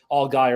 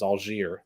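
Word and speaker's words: Allgeier: Atlanta Falcons yeah Tyler algier who I guess that's how his name is pronounced now because all guy is not good enough for him it's all jeer you know whatever did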